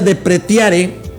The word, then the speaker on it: depreciare: La palabra desprecian viene de un latín que se pronuncia depreciare, y es que viene